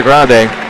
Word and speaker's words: Grande: khichi up on Sierra Grande I've always said Grande and I don't know if that's totally correct Sierra Grand is one way to pronounce it as well but I actually talk